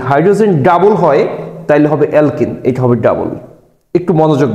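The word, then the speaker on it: alkene: double মানে কি অ্যালকিন অ্যাল কিন অ্যালকিন ডাবল উচ্চারণ হবে কিন মানে ইন তার মানে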